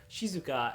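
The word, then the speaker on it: 静か: Cuneo me reading so if we know the kunio me reading of that Kanji character will know that it is Shizue so we'll pronounce this whole word Shizuka as opposed to the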